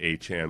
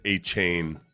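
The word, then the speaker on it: Achane: The one thing that disappoints me about him is just that he pronounces it Achan. Whereas Achain is a badass name.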